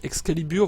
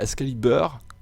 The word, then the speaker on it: Excalibur: française comment on dit comment on prononce à la française toutes les warframe voilà vous dites toutes Excalibur vous dites pas excaliber voilà vous ne le dises pas vous le dises pas à l'anglaise ou quoi que ce soit donc